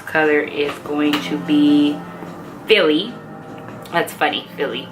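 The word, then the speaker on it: Filly: Next color is going to be Philly. That's funny, Philly, but it's spelled F-I-L-L-Y instead of like Philly, the city.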